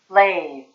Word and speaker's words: lathe: lathe, 다시 발음은?